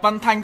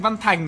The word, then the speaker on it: Văn Thanh: Ủa sao mình đọc Văn Thanh, các ông cứ nghe thành Văn Thành nhỉ?